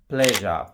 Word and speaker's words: pleasure: Pleasure, PLEASURE, pleasure.